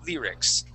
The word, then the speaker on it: lyrics: You Go lyrics yeah so that that Y is going to have more of a long e sound to it Lear lyrics okay and uh let's go